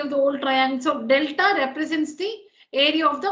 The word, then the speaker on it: delta: So let delta, this is not triangle, this is again a Greek letter that's pronounced delta, delta, D-E-L-T-A.